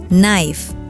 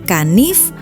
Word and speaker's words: knife: Kata pertama, knife, pisau. Pertanyaannya, kenapa K-nya ada? Kalau dibaca kanif, masih masuk akal kan?